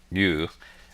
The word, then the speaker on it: eu: EU, pronounced you, is a Greek root that means good.